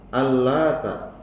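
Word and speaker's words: اللات: Al-Lata, cara membaca pertama, Al-Lata, huruf taknya takhfif, tanpa ditasydid. Takhfif itu ringan, tipis, ya.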